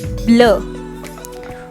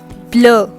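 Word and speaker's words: bleu: one that is blue what is blue called in french blur blur all right so what are those spellings that is b l e u all right blur next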